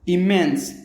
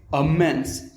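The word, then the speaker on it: immense: इसको हम दो तरीके से प्रोनाउंस करते हैं। अगर आप इंडियन एक्सेंट में प्रोनाउंस करना चाहे तो आप कहेंगे इमेंस, इमेंस, इमेंस। ओके, अगर आप यूएस एक्सेंट में प्रोनाउंस करना चाहते हो तो आप कहेंगे अमेंस, अमेंस। ओके, तो इंडियन एक्सेंट में इमेंस और यूएस एक्सेंट में अमेंस, अमेंस।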